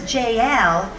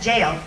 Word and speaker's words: Jael: there and say well you pronounce this jl but it is just jail anyway so her name